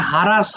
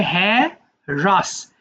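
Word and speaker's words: harass: হ্যাঁ এটা আবার অনেকে ভুল করে হারাস বলে কিন্তু এটা হারাস হবে না কেমন এটা হবে হ্যা রাস হ্রাস মানে হয়রানি করা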